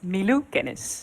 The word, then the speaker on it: Milo Kennis: Milo Kennis. I hope that this pronunciation is acceptable. Milo, how would you pronounce your name? That is definitely acceptable. I would pronounce this as Milou Kennis.